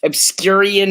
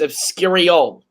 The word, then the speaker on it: Obscurial: Obscurian is incorrect. Very close. It is Obscurial.